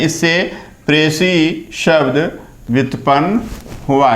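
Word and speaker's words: précis: प्रेसी S silent है, प्रेसी संक्षेपण अंग्रेजी के प्रेसी राइटिंग शब्द का हिंदी पर्याय है।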